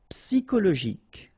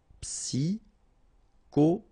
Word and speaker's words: psychologique: Okay, remember at the end you get this K. Okay, so ic. and then Y is pronounced like I, psi, and then it's an exception here because normally we should pronounce it sho, okay, but then we pronounce it ko.